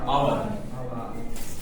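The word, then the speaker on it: hour: तो पीछे एक साइलेंट है तो आ की ही आवाज आ रही है, यानी स्वर की ही आवाज आ रही है, इसलिए एन लगेगा।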